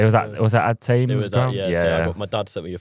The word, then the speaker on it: Thame: other club uh is it tame or tame pronounced tame United?